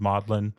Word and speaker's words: Magdalen: It's spelled Magdalen, but apparently they pronounce it Magdalen.